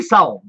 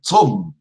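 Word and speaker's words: צום: Et en hébreu, on dit Saum. Saum. Ah. Et Siam, non. Saum. Bon, saum. Saum en hébreu. En Saum, hébreu. en hébreu biblique. La prononciation moderne en Israël, c'est tsom.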